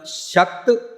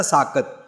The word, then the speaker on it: शाकत: और शक्त लफज तो बनया साकत, जिसनों असी सस्से नाल उच्चारण करते हैं ना साकत, वो दरअसल है शाकत।